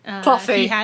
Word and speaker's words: Cloughy: Cloughy. It's Cloughy. It's after Brian Clough.